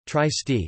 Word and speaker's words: Trieste: Trieste, Italian pronunciation, Trieste, listen, Slovene, TRST, is a city and a seaport in northeastern Italy.